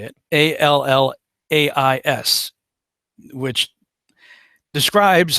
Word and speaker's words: Allais: Allais, which describes how, oddly enough, solar eclipses can cause Foucault pendulums to do all kinds of weird stuff.